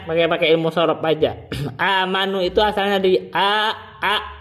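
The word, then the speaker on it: آمنوا: caranya itu Badal saja Hamzah yang kedua dengan huruf mad yang sesuai dengan harkat sebelumnya sebelumnya itu fathah berarti dibacanya diganti dengan Alif amanu gitu itu mad badal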